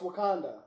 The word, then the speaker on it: Wakanda: Even the way Banner even said it, he mispronounces it the first time. It's Wakanda.